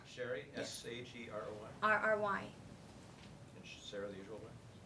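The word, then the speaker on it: Sarit: And Sarah the usual way? it's actually S-A-R-I-T spelled. Sorry, say again. S? S-A-R-I-T. You pronounce it Sarah.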